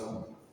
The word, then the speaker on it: coup: A coup, that's French, eh? Who pronounce coup? A coup.